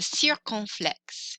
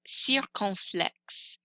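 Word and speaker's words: circonflexe: party hat and its actual name is the sir conflicts sir conflicts in english i think it's a circumflex it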